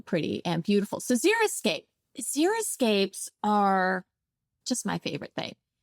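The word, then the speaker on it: xeriscape: water saving strategies and some people mispronounce it and they call it zeroscape and it's not zero because there's plants in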